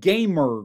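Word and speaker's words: Gamurs: But in 2022, it was acquired by something called Gamer Group. I I have to say it that way because it's spelled this way.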